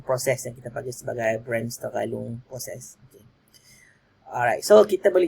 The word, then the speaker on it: Bremsstrahlung: So kalau nak sebut dalam pronunciation Jerman dia Bremsstrahlung.